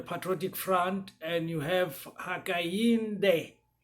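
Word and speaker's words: Hakainde: front and you have hakayinde ichilema forgive my pronunciation but it's hishima akainde so he is the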